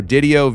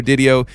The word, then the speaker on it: Didio: Him and I were working on his last name before we started recording, and I think he said it rhymes with video, so Didio, video, video, Didio.